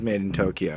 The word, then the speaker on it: MadeinTYO: MadeinTYO is pronounced as Made in Tokyo.